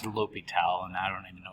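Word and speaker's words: L'Hôpital: ly toal's rule uh some math books add an S into his name uh so you might hear students say la Hospital uh but it's pronounced lital and I don't even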